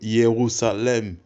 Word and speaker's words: Jérusalem: Donc le terme Jérusalem se prononce aussi sous le nom de Yérusalem.